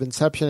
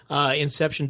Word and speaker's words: Inxeption: to get ahold of inception and your ideal customer inception comm and it's with an X yes the next it's pronounced like the movie but it's spelled with the X and our ideal customer